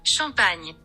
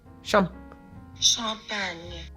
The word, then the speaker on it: champagne: how to pronounce champagne in French. Champagne. Champagne.